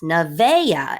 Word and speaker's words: Nevaeh: And Navia, Nevaeh is how some people pronounce this. Nevaeh.